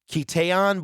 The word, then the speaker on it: Keytaon: very weird because I I would say that is uh keteon but I guess it's Keaton is from what I understand the pronunciation is now he has he's